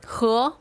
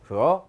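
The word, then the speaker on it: 和: 화자 발음 허 허 해서 이건 뭐뭐과 뭐뭐와 a와 b와 c와 d 이렇게 연결할 때 병렬 관계로서 영어로 and 그런 의미로 쓰일 때 씁니다.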